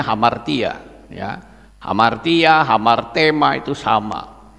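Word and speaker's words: ἁμαρτία: itu dalam bahasa Yunani itu dikatakan hamartia ini bacanya hamartia Ya hamartia hamartema itu sama itu seperti seorang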